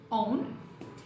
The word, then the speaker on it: own: É muito normal confundir essa palavra com a pronúncia de que é one. Então, own. One, que é o número 1, e a preposição on, que é no, na, em cima. On.